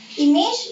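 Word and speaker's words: image: इमेज, इमेज की spelling भी same है, बट इसको आप प्रोनाउंस करेंगे इमाज, इमाज मीन्स इमेज, पिक्चर, समथिंग।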